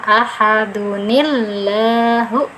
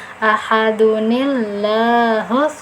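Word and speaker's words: أَحَدٌ ٱللَّهُ: Nah, dengan cara dunnya diganti du saja, dan di sini ditambah nun dengan harokat kasroh ya. Ahadunillahu. Ahadunillahu somad.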